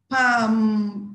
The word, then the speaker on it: palm: Palm, palm. Another silent L. Palm.